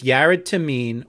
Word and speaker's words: Yared Tamene: thing before we go further jared goes by jared tameen do you want to give him your full legal name for the record mr tamin i'm sorry my full name is yarot tameen that's spelled hyphen by blank question so